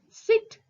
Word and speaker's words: sit: Nodi, sit, seat. Sit is a short vowel sound.